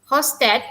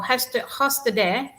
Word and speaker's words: Hofstede: Okay, please remember, Hofstede or Hofstede is actually focusing on values, attitude, and behavior.